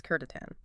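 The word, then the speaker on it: C'tan: It's spelled Tan, but the correct pronunciation is Kurtatan.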